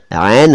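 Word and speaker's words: عین: उर्दू में भी एक एन अक्षर होता है, दरअसल उसका सही उच्चारण तो आयन है, आयन, लेकिन जल्दबाजी में उसे एन कह लेते हैं।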